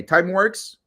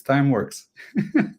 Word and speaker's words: Timeworx: Uh let's uh now maybe start with the idea of time works. Uh, do I pronounce well? By the way, time works. Yeah, that's it. We make your time work for you. So, it's time works.